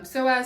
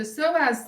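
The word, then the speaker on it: psoas: the table for the soaz sign you're going to and I hope I'm pronouncing it correct soas PS o um you're going to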